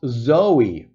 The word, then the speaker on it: Zoe: little slow evey patty it's pronounced Zoey in proper French okay thank you I